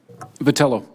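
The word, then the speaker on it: Vitiello: so that being said I think mr. Vitali oh that you would agree ever had pronounced your name correctly patella patella thank you I think you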